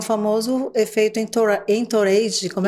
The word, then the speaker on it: entourage: tem o famoso efeito entourage, como é que eu pronuncio? Tô certa? Entourage. É francês, né?